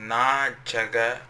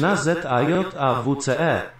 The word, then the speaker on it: Na Zajawce: And the name of the song is called Na Chaga. I hope I'm pronouncing it right.